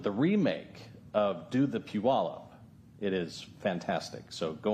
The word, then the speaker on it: Puyallup: That song reminds me that that's how people learn how to say puallup as opposed to pelop. A lot of people pronounce it wrong.